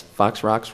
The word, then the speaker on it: Fox Rox: Plus, Fox Rocks rhymes with chicken pox.